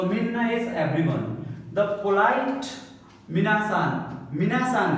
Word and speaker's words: みなさん: The polite minasan.